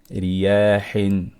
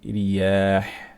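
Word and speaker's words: رياح: The first scenario is when the ra has a kasra under it, such as riyahin, okay, riyah. Yeah, when we have a kasra under ra, ra becomes weak. We're not going to say ri, we're going to say ri. So your tongue is going to be more relaxed. The back of the tongue sits. Okay, we're not going to raise it up.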